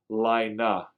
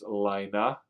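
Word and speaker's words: Laine: can tell me antie I think it the proper PR pronunciation of his name is actually Lina is that is that correct um that it's not l or l it's Lina I find it hard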